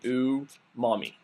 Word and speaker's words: umami: I'm sure I'm murdering the word because I don't speak Japanese, but from asking someone who is Japanese how to say it, the best way I could say it is it's pronounced umami.